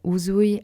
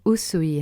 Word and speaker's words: Usui: La première, Shinshin Kaizen Uzui Reiki Ryo. Ou la deuxième, Shinshin Kaizen Usui Reiki Ryo. Vous avez trouvé? Bien sûr, c'est la deuxième réponse.